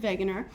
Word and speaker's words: Wegener: country is germany so in german the w is pronounced v so again i'm alfred wegener and i am much